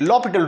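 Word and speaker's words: L'Hôpital: करेंगे हम यहां पर ल पिटल रूल अप्लाई करेंगे अप्लाई लपट रूल लपट रूल के स्पेलिंग हॉस्पिटल के ही है अप्लाई लो पिटल रूल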